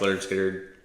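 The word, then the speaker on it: Lynyrd Skynyrd: is sounds of the self Leonard skinnard uh pronounced leard skard um you know they they eventually went on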